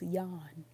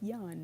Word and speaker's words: John: can read John and someone says it's yon okay you don't pronounce the J alright its yon now I don't know